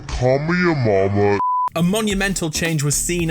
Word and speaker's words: Kamehameha: surf on clouds and kamehameha like the show and we also found out it isn't pronounced kamehameha it isn't pronounced kamehameha it's officially called call me a mama call me a momma a monumental change was